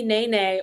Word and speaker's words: nene: Question number 8, spelled like the first name of a Real Housewives of Atlanta cast member and pronounced like a 2013 hip hop dance, is what bird species that is also called a Hawaiian goose?